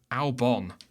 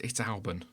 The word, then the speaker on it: Albon: Or Albon. Albon, as Crofty calls him. It's Albon.